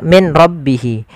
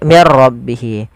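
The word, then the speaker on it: مِنْ رَبِّهِ: Apabila ada nun sukun bertemu dengan ra, maka di sini jangan dibaca min rabbihi, tapi diganti menjadi mir rabbihi. Bagaimana langkah membacanya? Langkah pertama, suara nunnya dimasukkan ke ra dan diganti menjadi r, maka menjadi mir ra, maka menjadi diganti dengan ra, maka mir ra.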